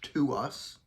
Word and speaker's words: TWS: posting my first video about them that it's pronounced to us literally what and also why like if I